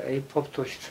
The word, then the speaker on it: apoptosis: 따라서 세포 사멸 (apoptosis) 은 때때 로 " 아 - 팝토 시스 " 라고 도 발음 되며 , 프로그램 된